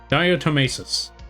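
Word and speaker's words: diatomaceous: Diotommesis. Ah, that's how you pronounce it.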